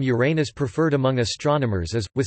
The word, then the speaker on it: Uranus: pronunciation of the name Uranus preferred among astronomers as with stress on the first syllable as in Latin Uranus in contrast to with